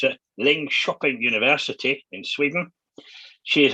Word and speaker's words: Linköping: and I've been told this is how you pronounce it, Linköping University in Sweden.